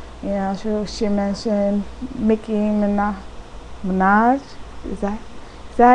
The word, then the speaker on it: Minaj: and the singers you she mentioned Mickey MAA Minaj is that is that how you say it Minaj Minaj see she had to help me out and